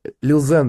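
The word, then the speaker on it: Lil Xan: Я бы с Лил Заном. Лил Зен, даже правильно произносится.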